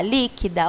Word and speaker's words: líquida: e a palavra líquida vamos ver quantas vezes a gente abre a boca para falar líquida ó lhe que dá eu abri três vezes a boquinha né não é e a minha sílaba mais forte é o lee então ela é uma proparoxítona tá é a antepenúltima se eu contar de